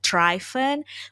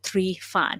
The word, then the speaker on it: Trifan: last name honestly because most people they would pronounce my name as triphen but in romanian because that's what my uh really that's where i i was born and raised uh we say my name is my last name as tree fun so all that to